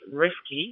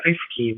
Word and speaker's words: Rifki: So yeah, my name is Rifki is uh in in Indonesia. A lot of my friends pronounce me Rifty, but some people pronounce me Rifty, but anyway, it's totally fine.